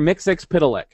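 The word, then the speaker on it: Mxyzptlk: it because I say I call him Mr miix pck because that's how you say his name but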